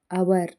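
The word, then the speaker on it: hour: ಆಗಿ G silent ಆಗಿದೆ ಹೆಚ್ silent ಆಗಿರುವಂತ ಪದಗಳು ಹಚ್ ಓ ಎನ್ ಓ ಯು ಆರ್ ಆನರ್ ಹಚ್ ಓ ಯು ಆರ್ ಅವರ್ ಟಿ ಹಚ್ ಓ ಎಂಎ ಎಸ್ ಥಾಮಸ್ ಹಾನರ್ ಅಂತಂದ್ರೆ ಗೌರವ ಆವರ್ ಗಂಟೆ ಥಾಮಸ್ ಇದು ಒಂದು ವ್ಯಕ್ತಿಯ ಹೆಸರು ಇದಿಷ್ಟರಲ್ಲಿ ಕಾಮನ್ ಆಗಿ ಹೆಚ್ ಸೈಲೆಂಟ್ ಆಗಿದೆ ಇದೇ ರೀತಿ ಇನ್ನು ಅನೇಕ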